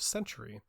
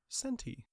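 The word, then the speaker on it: Centy: of centi uh which every time I look at it I think is called Crusader of century but it's spelled c n t y centi now Crusader of centi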